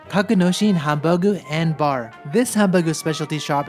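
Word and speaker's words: ハンバーグ: In Japanese it's called Hamba-gu.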